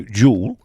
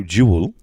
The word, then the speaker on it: Jewel: It depends how common you are. If you go Jewel, it's 1. If you go Jewel, which is the correct pronunciation, it's like 1 and a bit.